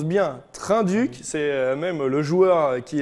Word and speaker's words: Trinh-Duc: entière alors oui j'avais raison par contre on prononce bien trin duc c'est même le joueur qui est qu'il le